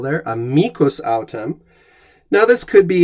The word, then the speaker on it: amicus: american english not latin the word in latin is amicus with a long eye and an accent on the middle syllable there a mycos autumn now this could